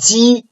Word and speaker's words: ji: And ji is not aspirated. Okay, so it's a very weak breath of air coming out through the mouth.